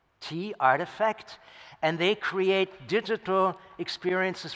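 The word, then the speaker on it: RTFKT: Nike, as you might know, works together with Artifact, which is spelled R-T-F-K-T, Artifact.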